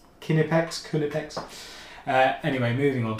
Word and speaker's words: Knipex: written down as in the phonetic would be K uh H n I p x kunipex kipex kunipex.